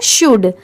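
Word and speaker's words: should: शुड। ठीक है? इसकी रियल प्रोनाउंसिएशन है। करेक्ट प्रोनाउंसिएशन है शुड। तो इसे हम शुड नहीं पढ़ेंगे। यहां पर ये जो एल लेटर है वो साइलेंट है।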